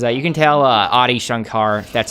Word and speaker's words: Adi Shankar: that though because uh you can tell uh audi shankar that's how you say his name actually like